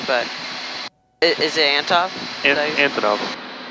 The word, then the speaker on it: Antonov: Either the Antov, I might be saying it wrong, but is it Antov? Antonov. Antonov.